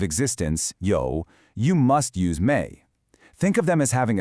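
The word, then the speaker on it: 没: To say I don't have, you're going to need this character, méi, pronounced méi.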